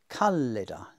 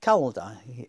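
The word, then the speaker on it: calida: Speculum, not speculum. Articulus, not articulus. English word article, which just means a little joint. Angulus, corner. Callida, not calda. Here we see again the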